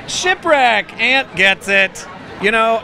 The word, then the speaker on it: Shipwreck: rhymes with okay um it rhymes with hip check like in hockey shipwreck Aunt gets it you